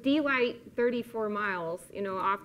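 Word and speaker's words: Delight: about glenn campbell um born and raised in d light arkansas that is how you say that i have been there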